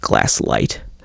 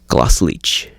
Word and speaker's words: Glasslite: and they called it glass leet but as far as I can tell the correct Brazilian Portuguese pronunciation is colossal each colossal each colossal each